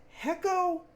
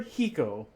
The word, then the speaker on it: HECO: um JT Helms from is it hecko or heo uh that's kind of the that's the big question right um when we came up with a name we've been pronouncing it heo and it's hard for me to break that habit but it seems like consensus is it's hecko now that's how it's like 90% of people say hecko so I think we